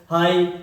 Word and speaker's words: high: HIGH, इसको क्या बोलेंगे? हाई।